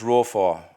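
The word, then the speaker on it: רפה: The word here that's used in the original language is pronounced rophar, and it means to slacken or to be weak and to be still.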